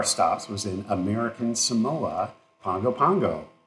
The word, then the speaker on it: Pago Pago: calling it P pgo Pago Pago p p p anyways all that so it's like Bongo Bongo it's like Bongo but it's Pongo Pongo Pongo American Samoa and